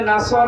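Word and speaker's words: نصر: দাঁড়ালে পড়েছে এখানে আছে নাসর মানে সাহায্য আর নুন সিন র নাসর মানে এই গল্প কি আপনি যদি মুখটা গোল করে শুদ্ধ করে উচ্চারণ না করেন অর্থ আকাশ পাতাল পাল্টিয়ে যাবে আল্লাহ পাক বলেন হে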